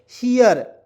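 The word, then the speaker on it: hear: मैंने बताया कि दुनिया के कोई भी वर्ड जिसके अंत में EAR आएगा उसका उच्चारण ईयर के रूप में, तो इसमें जोड़ेंगे हियर।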